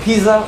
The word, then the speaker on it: pizza: Yeah, and do you say pizza or pizza? Pizza. Pizza. So a T and an S sound for the Z.